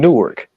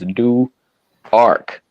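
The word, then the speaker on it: Newark: ark Delaware yeah and it's spelled just like nework New Jersey but if you call them nework newk it will be a problem new the Delaware people that didn't know this is new arc okay I'm sorry new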